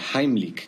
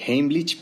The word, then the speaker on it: Heimlich: Vamos a ver en este video la maniobra de Heimlik, que por cierto esa es la pronunciación correcta porque está en alemán. La mayoría dice Heimlich, pero bueno, se entiende de qué se trata.